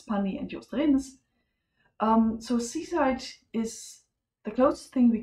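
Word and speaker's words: CSIDH: So seaside, just to be sure that this is pronounced seaside, because, well, we developed this when we were at Tenerife.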